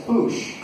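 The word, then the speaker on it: Puxe: in Portuguese is a should sound so it's pronounced do you know what happens when you push a door that says Boosh nothing nothing happens this Boosh means to coal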